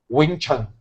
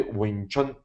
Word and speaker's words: Ving Tsun: ele pode pronunciar perfeit ele vai falar wichan que tá muito longe do som de wichan e é interessante que